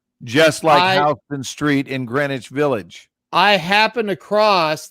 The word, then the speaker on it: Greenwich: of new york that by all rights should be pronounced green witch right pronounced greenwich so you just you kind